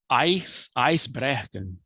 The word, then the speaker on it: Icebreaker: eu ver se eu falo o nome correto, Icebreaker, que quer, Yes.